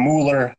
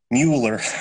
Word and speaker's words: Muller: I get the Muller because people look at the U and then they just pronounce the letter U. So they're like, oh, it's got a U in it. So it's Muller.